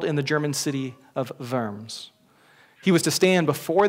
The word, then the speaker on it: Worms: of a diet of worms, like we're eating those little crawly things. He said, no, it's a diet, which comes from Latin, but it's worms, it's a V sound with the W.